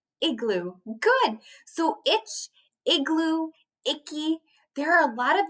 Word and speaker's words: Icky: kid his name is icky say hi to icky hi icky his name is at the top